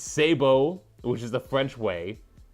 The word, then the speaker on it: sabot: So when you have loud noises and someone says Sabo, you know what they're talking about. So that's why they use the French way of saying it, but you can say it as Sabat.